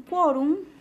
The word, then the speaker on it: quórum: Siguiente, sin quórum se aprobó la publicación de los cómics. Quórum es grave, es un latinismo que termina en consonante M, debe tildarse.